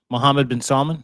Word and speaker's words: Mohammed bin Salman: There is a phone call that exists around this conversation where Donald Trump and MBS, Mohammed bin Salman, is that how you say it?